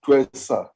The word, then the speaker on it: Ntwesa: There is Twesa, not sure how to pronounce the surname.